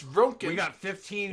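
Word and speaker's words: Röntgen: 15 and Do you not to know the how to large- pronounce We have 15 Rontgen, minutes. Drayden? It's Ronkin.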